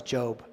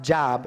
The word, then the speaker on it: Job: those who have persevered you have heard of job's perseverance and have seen what the lord finally